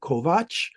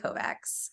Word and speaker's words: Kovacs: pronounce your last name Kovacs, because CS in Hungarian is pronounced ch, and then I was like, oh, there's no way she's Hungarian.